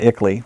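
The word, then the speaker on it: ICLEI: for local environmental initiatives icii uh ickle we we pronounce it and uh they helped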